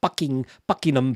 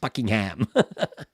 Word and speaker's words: Buckingham: Trying to pronounce Southwark rather than Southwark. And Leicestershire. Worcestershire. Not Worcestershire. Buckingham Palace, not Buckingham.